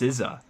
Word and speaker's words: SZA: But it's is it SZA? Or I don't. She's featured in a lot of like pop and kind of hip hop-ish songs. Yeah, it's like SZ, but her name is pronounced SZA, and I had no